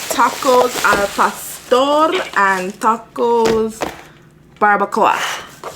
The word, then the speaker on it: barbacoa: So I got tacos al pastor and tacos barbacoa. Barbacoa. You gotta roll the R because that's how he asked him how to pronounce it. And he said barbacoa. Barbacoa. He rolled his R, so I don't know which is which.